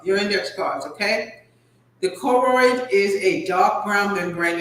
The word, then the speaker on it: choroid: Choroid, CHOROID.